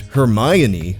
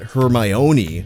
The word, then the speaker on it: Hermione: First of all, her name is pronounced Hermione, not Hermione. You can remember where the accent goes because it's on the my, as in Hermione is my girl, not yours, which means don't even think about it.